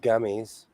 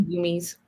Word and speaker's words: gummies: Pascal argued the pronunciation of gummies. She calls them goomies. Goomy. Yeah. I've watched a couple of her videos. It drives me nuts when she goes goomies. I was like, they're not goomies.